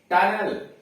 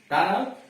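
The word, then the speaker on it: tunnel: जिसके अंत में ईयर, ईएन, ईएनटी, ई आर हो और उसके पहले 2 या 2 से अधिक लेटर हो, यानी उसके पहले 2 या 2 से अधिक लेटर आ गए हों तो ई का उच्चारण अ होता है। जैसे टनल, टनल सुरंग, स्पोकन, स्पोकन मतलब बोला हुआ, कहा हुआ। मस्टर, मस्टर गिनती, MUSTER मस्टर।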